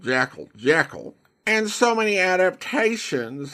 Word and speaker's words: Jekyll: Correct pronunciation of Jekyll is with the long E.